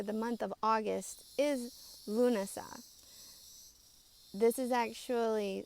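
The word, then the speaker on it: Lúnasa: month of August is lunasa this is actually spelled a little different than how we spell this holiday but it seems to be pronounced about the same the ancient people would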